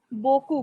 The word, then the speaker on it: beaucoup: Beaucoup. P is silent.